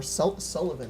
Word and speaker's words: Sullivan: Negra 101, Agent Immortal, Henry Scorp, Sullivan, or Sullivan actually is how it's pronounced.